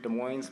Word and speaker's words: Des Moines: fairy and i'm from des moines washington where we pronounce the s yes this is my seventh